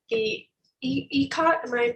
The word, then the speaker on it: ikat: While they do, I actually have a question for Hillary about a certain, so you said the ikat, am I pronouncing that correctly?